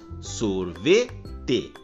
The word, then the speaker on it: sorvete: pois nós falamos café depois na palavra sorvete a sílaba que nós pronunciamos com mais intensidade é a sílaba ver pois nós falamos sorvete e por fim na